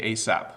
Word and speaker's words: ASAP: We actually say ASAP.